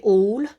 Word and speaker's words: awl: the table it's called it's called awl but you should say all apparently but i keep saying it wrong and so you make a little hole with the owl all tool and then